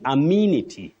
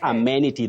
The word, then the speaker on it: amenity: as the sound like letter E in this word takes the long what we call the long high front sound e e amenity not amenity that we hear of